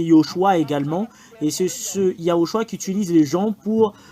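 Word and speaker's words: יההוֹשֻׁע: également et c'est ce yahoshua qui utilise les gens pour tier un nom Yehoshua c'est vraiment différent de yahoshua c'est pas pareil yahoshua et Yoshua Yoshua c'est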